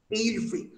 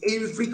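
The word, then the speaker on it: Ælfric: Saxon poet এর নাম, এইলফ্রিক। এই যে এইলফ্রিক অফ দ্য এনশিয়েন্ট, দেখবে এইলফ্রিক নামটা যখন লেখা হয় ইংলিশে, এই এ ই এই দুটো শব্দ একসঙ্গে উচ্চারণ করা হয়।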